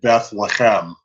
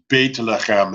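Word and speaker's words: בית לחם: It gets often translated as Beth, and that's how you get Beth Lechem, right? Beit Lechem is the Hebrew, the Sephardic pronunciation, but this is how you get the word Beth Lechem.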